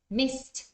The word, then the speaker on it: missed: the the another one so the T in Miss missed is the one that disappears they missed the train